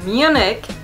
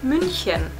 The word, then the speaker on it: München: is actually called C the next one which you call Munich we call munin which is in Bavaria